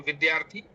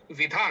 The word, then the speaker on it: विद्या: अगर आप ध्यान देंगे तो अब से आप विधा न पढ़ के विद्या पढ़ेंगे क्योंकि यहां पे द और य का संयोग है तो इसे पढ़ेंगे द्य।